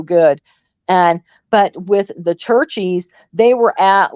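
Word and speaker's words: Cherchies: the place it's called it's spelled c h e r c h i s churches okay they they make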